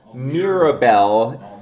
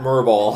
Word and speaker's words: Mirabel: Mirabel. Not Merble. Not Merbble.